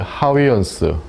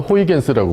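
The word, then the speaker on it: Huygens: 뭐 직진하고 뭐 반사고 이런 거 입자로 다 설명을 했는데, 나중에 그 이런 사람들, 하위언스, 옛날에는 호이겐스라고 불렀죠. 근데 지금은 현지 발음을 그대로 표기하기 위해서 하위언스라고 써요.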